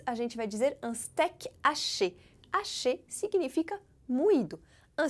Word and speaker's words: steak: que veio do inglês, steak. Mais uma vez, a pronúncia muda ligeiramente. Em vez de steak, como em inglês, no francês se diz com o E aberto, assim ó, steak.